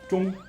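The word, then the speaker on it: 中: The character which means middle is pronounced zhong.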